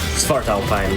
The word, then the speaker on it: Svartalfheim: Svartalheim? Svartalfheim, yes.